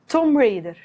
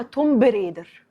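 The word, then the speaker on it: Tomb Raider: رقم 2 توم ريدر، ناس كتيرة قوي بتقولها توم بريدر، بس حرف البي اللي في الآخر هو سايلنت، فالنطق الصح بتاعها هو توم ريدر.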